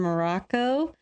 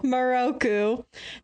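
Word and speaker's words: Miroku: I do love how Shippo, Sango, and Morocco sees it. Did I say his name wrong? Yes. Shut up. Moroku.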